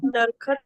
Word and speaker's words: दरख्त: ही है दर अ अब वो जो है हल्के से अ की साउंड है बीच में दरख्त अ वो ज़बर से आ जाती है पहाड़े एक दरखत भी कहते हैं। नहीं दरख्त बोलते हैं।